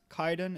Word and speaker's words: Kaiden: So yeah, it's spelt pretty much the way it sounds. For all of you people who don't know anything about Japanese, Kaiden is spelt Kaiden.